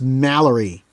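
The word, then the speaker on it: Malory: who is a French say it like you're the normal person it's Thomas Mallory say it like an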